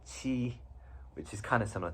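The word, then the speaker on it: 乞: So the left part of this character is means mouth, and this part on its own is pronounced qi, which is kind of similar to this, and it means request or to beg.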